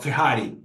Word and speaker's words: Ferrari: We call Fiari in Portuguese. What? Okay. Say that again. What is the example here? Fari. Ferrari. Oh, Ferrari.